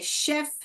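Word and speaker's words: chef: हां बहुत बहुत लोग उसको चेफ करके प्रोनाउंस करते हैं। यहां का प्रोनाउंसिएशन बोलते हैं च करके। मगर वो चेफ नहीं है बेटा। वो क्या है? शेफ है। क्या है? शेफ। क्या है? शेफ। तो यहां पर हमारा सीएच ने क्या आवाज निकाला? शेफ। शेफ। The right pronunciation of this is शेफ। नॉट चेफ। लॉट of people pronounce S चेफ। We have to pronounce it एस शेफ।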